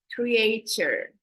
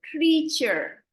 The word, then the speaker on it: creature: I noticed somebody said creature. So the A sounds like a double E. So creature.